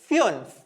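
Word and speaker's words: fünf: ഉം വരുന്നുണ്ട് അപ്പൊ ഉംലാവ് വരുന്ന സമയത്തും നമ്മൾ നമ്മളുടെ ഉച്ചാരണ വ്യത്യാസം പഠിച്ചിരുന്നു സാധാ ഉണെങ്കിൽ നമ്മൾ ഉ എന്ന് വായിക്കും അതായത് ഫുൻഫ് എന്ന് വായിച്ചിരുന്നു അവിടെ ഉംലാവ് ഇല്ലെങ്കിൽ പക്ഷേ ഉംല വരുന്ന സമയത്ത് നമ്മൾ പഠിച്ച എക്സാമ്പിൾ ഏതായിരുന്നു ഉബർ യൂബർ സോ അതേപോലെ ഫുൻഫ് ഫ്യൂൻഫ് ഫ്യൂൻഫ് എന്നാണ് ഫൈവ് എന്നതിന് പറയുക ഫ്യൂൻഫ് ഫ്യൂൻഫ് ഇനി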